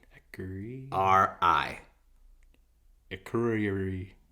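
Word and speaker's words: Akureyri: okay you are e y I agree r-i a curry a curry yeah all right keep drinking good try loosen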